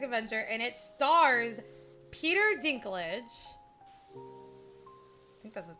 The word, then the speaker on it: Dinklage: This movie is called Toxic Avenger and it stars Peter Dinklage. I think that's his name. Is that how you say it? Is it Dinklage?